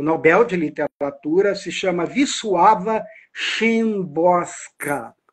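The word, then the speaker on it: Wisława Szymborska: de Literatura se chama viss suava chosa é assim que se soletra mas não é assim que se escreve o nome dela ela vai dizer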